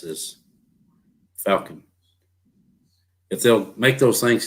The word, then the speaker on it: Falcon: Rhymes with Talkin. Falcon boats not allowed on BPT?